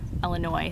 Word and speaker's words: Illinois: from Illinois to Florida, Illinois, sorry, there's no S, the S is silent, to Florida to pick